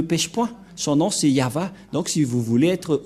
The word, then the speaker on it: Yahvah: Voilà le nom de Yahva prononcé par le grand-père Moshe, Ya, Yahva.